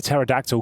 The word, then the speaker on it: pterodactyl: can't you hear a pterodactyl going to the bathroom because the p is silent because the p is